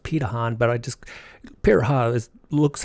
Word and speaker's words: Pirahã: to focus on in this video is the pure hot tribe actually pronounced petahon but I just perhaps looks how it would